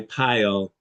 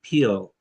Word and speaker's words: pile: is Spanish or French often this I sound when they see I they tend to pronounce uh more like e right so is pile white or green white tie pile green tea peel I we were reading something